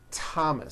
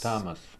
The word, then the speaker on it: Thomas: spelled with a th they are pronounced as if they were spelled with a normal t t like that and these words are Thomas Thomas Thompson Thompson Teresa Teresa